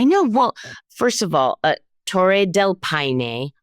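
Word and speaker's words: Torres del Paine: well first of all té Del Pine I was calling it Tores delpan and that is wrong um that is pro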